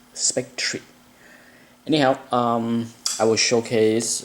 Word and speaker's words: Spectre: years if not decades I think I pronounce this character incorrectly a Spectra but uh I think the proper way to pronounce the name is Spectre anyhow um I will